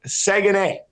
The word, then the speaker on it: Saguenay: So, but yeah, the Chicoutimi Saguenay.